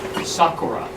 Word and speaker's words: Sakura: My name is Sakura, but I amongst Japanese, I'll pronounce it the Japanese way, which is Sakura.